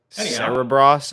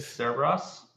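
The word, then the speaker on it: Cerebras: We have Cerberus, or how do they pronounce that name? I was going to say Cerberus, but that's Greek mythology. Cerebros, I believe. Cerebros.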